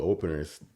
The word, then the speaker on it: OPNRS: It's just in the Apple Store and it's called Openers. The way it's spelled.